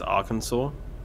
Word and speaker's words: Arkansas: like cat you know arkansas is spelt like kansas just with an ar in front of it but they pronounce it as arkansas instead of our cat